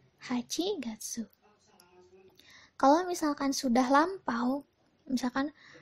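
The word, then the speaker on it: 八月: itu ada bulan delapan bulan delapan Aji Gatsu hachigatsu kalau misalkan sudah lampau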